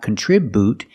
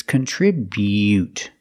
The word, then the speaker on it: contribute: Remember the bu is not bu, it's not contribute, it's contribute. Make the y-yu sound.